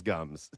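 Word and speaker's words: Gumbs: Oh, it's because his last name is Gums. with a B, silent B there.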